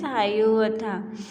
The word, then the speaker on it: Hiawatha: Its pronunciation is Hayuvatha.